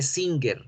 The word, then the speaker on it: singer: Hay que hacerlo un poquito más nasal. ¿Y por qué también es importantísimo hacerlo bien nasal? Para que no se nos confunda con la palabra pecador. Porque la palabra pecador tiene N. ¿Sí? y la N es alveolar, no es nasal.